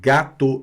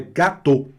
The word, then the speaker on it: gâteau: O fato do A estar com acento circunflexo não quer dizer nada. Isso é uma questão histórica, porque ele está ali, ele quer estar ali, o acento, e não está pedindo opinião de ninguém. Tá certo? Ele tá porque tá. Simples assim. Certo? Então é gâteau.